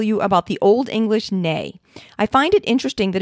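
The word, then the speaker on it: nei: The word for no in Icelandic is nay.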